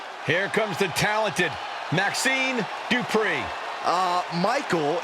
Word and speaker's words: Dupri: Here comes the talented Maxine Dri. Uh, Michael, it's pronounced Dri.